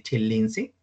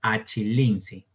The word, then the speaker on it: achelense: Acá dice chelense, ¿ya? Chelense. Y por acá, arriba, en el Homo erectus le ponen la cultura achelense. El término correcto entonces es achelense.